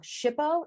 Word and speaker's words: SHPO: shippo shpo shippo um some people pronounce it a little bit differently and again i'll i will definitely snicker at you there's been some fun pronunciations i've heard of that uh that over the years but shippo is definitely the good basic one to use again it's going to